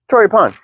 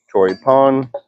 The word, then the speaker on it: Choripán: Pan means bread in Spanish. Chip pan. Troy pon with an accent on the a. Chro pon. Troy pon.